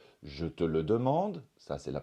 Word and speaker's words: je te le demande: en voie la 4 je te le demande ça c'est la prononciation standard je te le demande ça c'est une possibilité je te le demande